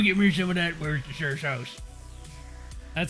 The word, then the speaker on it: Worcestershire: sauce hey bro give me some of that where's the shirt that's how you pronounce it if you don't pronounce it like